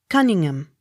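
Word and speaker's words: Conyngham: h o u n cohoon accent on last syllable c o n y n h a m cunningham c o u t t s coots c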